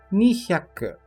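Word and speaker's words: 二百: E seguindo na casa das centenas, o número 200 dizemos nihyaku. Nihyaku.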